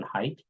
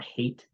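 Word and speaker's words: Haidt: Righteous Mind by Jonathan height or hate his name might be pronounced hate and uh that was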